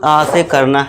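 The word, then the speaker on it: ask: फिर देखिए दोस्तों फिफ्थ देखिए, जब ए के बाद एस टी या फिर एस के आए तब भी ए का उच्चारण लॉन्ग आ से करना है।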